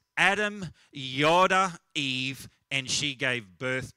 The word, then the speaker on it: yada: Now, in the Old Testament, that word know in the Hebrew is a word yada. I don't know if I pronounce that correctly, but it's Y-A-W-D-A-H, yoda.